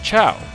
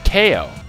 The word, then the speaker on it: Chao: ciao they pronounced it ko and i like i see what they're going for because like it's chaos even though it's spelled c-h-a-o-s but i was just like it's not ko it's a chow you stupid like i